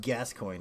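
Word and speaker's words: Gascoigne: It's pronounced gas coin.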